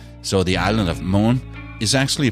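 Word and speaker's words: Møn: people and danish landmarks as we would say it in Danish so the island of moon is actually pronounced Moon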